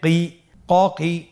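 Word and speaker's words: ق: এই হরফটি কিন্তু আপনার মোটা অক্ষর, মোটা হরফ। বলার সময়, উচ্চারণ করার সময় অবশ্যই মোটা করে পড়তে হবে।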